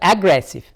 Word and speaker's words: aggressive: the stress lie on how many syllabic words does this word have i'm sure that aggressive aggressive aggressive therefore which is consisted of free field record aggressive aggressive so the strikes lie on here now aggressive aggressive aggressive aggressive